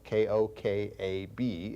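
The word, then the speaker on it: כוכב: It's spelled, some of you I'd been asked one time to spell these terms for you, so it's spelled K-O-K-A-B if you want to know.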